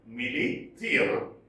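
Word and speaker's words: Milly Theale: And here, Millie Thiel, proper nouns can be pronounced differently, but we have to approximate to their pronunciation. So it is Millie Thiel.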